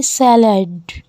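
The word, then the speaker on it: salad: The next word is सलाद और सलाद को कहेंगे सैलड। रिपीट कीजिए, सैलड।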